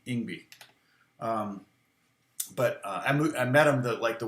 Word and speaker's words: Yngwie: I mean, I met him when he first moved to the U.S., and that's how he pronounced it to me, Yngwie.